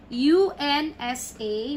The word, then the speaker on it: unsa: and then we have u n s a we have the stresses in the middle if the stress would be here it will be wrong it's unsa no it's wrong punsa unsa okay next number six we